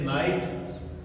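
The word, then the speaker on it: knight: इसी तरह से नाइट के एन आई जी एच टी।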